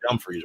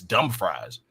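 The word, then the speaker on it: Dumfries: from and they see there's like this town called dumre right but it's spelled F and people who aren't familiar with it will always say what's dumb fries yeah what's Dum fries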